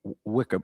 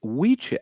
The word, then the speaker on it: wicca: So, okay, the name Wicca originated from the Old English word Wicca. Well, it's Wicha. It's Wicha and Wiche. The two C's are pronounced like the palliative of the CH in the word chip.